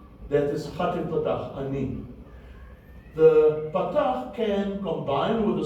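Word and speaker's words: אני: with a chilik yod, and that word is pronunciated ani, which means I.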